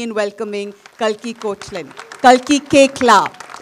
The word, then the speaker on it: Koechlin: Kalki Koechlin. It's pronounced Koechlin.